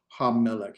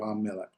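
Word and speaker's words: הַמֶּלֶךְ: The ha-melech. Here's our word, ha-melech. How would I divide that into syllables? Is it ha, me, lek?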